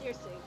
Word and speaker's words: Circe: Yes, it seems her name is Search Lunarlight. What the fuck kind of fucking name? Search Lunarlight? What in the Baldur's Gate is that? Bro? No, you're saying it wrong. It's Circe.